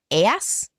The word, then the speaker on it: Ajax: In particular, Nestor, king of Pylos, arrives home safely, and soon the lesser, how do you pronounce Ajax? It's Aias, I think.